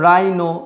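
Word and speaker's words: rhino: তারপরে দেখো রাইনো, রাইনো, এই এইচটা কিন্তু এই ক্ষেত্রে সাইলেন্ট থেকে যাচ্ছে।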